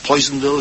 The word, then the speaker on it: Poisonville: Red Harvest, which is set in an industrial town, Psonville, Poisonville, as it's pronounced described as as an ugly town in